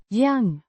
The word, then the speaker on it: jag: Y means I pronounced Yang with a distinct G. Sounds similar to the G in go.